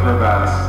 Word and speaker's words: crevasse: I thought it went down the crevasse. Is it crevice or crevasse? Crevasse.